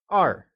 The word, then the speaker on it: èr: 2 is R.And is pronounced with the falling tone. It is said as R.